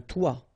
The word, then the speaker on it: toit: Okay, and then both of them are pronounced like toi.